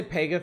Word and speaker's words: Pegath: I say Pegath like a child with a lisp trying to pronounce Pegasus.